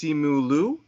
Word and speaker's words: Simu Liu: In watching the trailer, I had heard that I believe his name is pronounced Simu Liu, who's playing Shang-Chi.